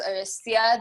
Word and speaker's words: Horesia: I don't even know how many other names you have, but my name is Horesia. The H is silent.